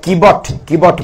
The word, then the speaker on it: Kewat: আপনারা শুনেছেন কিনা, গুগলে চার্জ করলে বানানটা হচ্ছে কেওয়াট, KEWAT। আর আমরা বলে থাকি একজন মাঝির নাম, তিনি হচ্ছেন শাস্ত্রের ভাষায় বলা হয় কিবট মাঝি, ডব্লিউ কে বব উচ্চারণ করে আর কি, কিন্তু গুগলে KEWAT কেওয়াট বলা হচ্ছে।